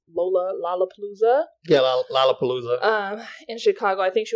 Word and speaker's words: Lollapalooza: So let's just briefly touch on Malia Obama and her dancing at, I think it's pronounced Lollapalooza. Yeah, Lollapalooza.